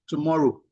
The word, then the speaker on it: TMRW: is also the founder of TMRW, pronounced tomorrow, a decision infrastructure company focused on how AI assisted decisions are formed, governed and revealed in high stakes environment.